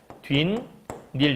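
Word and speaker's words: 뒷일: 일을 생각하지 말라고 얘기하잖아 바로 하면 뒤인 닐 이렇게 발음하거든 그럼 지금 보면 뒤하고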